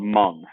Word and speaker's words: Hmong: tribe inside of china her people are called mung it's h-m-o-n-g it's how you spell it um and it's in